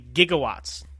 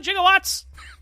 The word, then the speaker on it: gigawatts: film now Doc Brown he refers to gigawatts with like a J sound and not a G sound and as today right